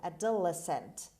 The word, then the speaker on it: adolescent: has word number three adolescent adolescent adolescent the stress is on l adolescent means growing up to